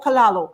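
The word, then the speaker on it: callaloo: Yes, it's one of the reasons I love kalalu so much. What's it, kalalu or kalalo? I keep messing up the pronunciation.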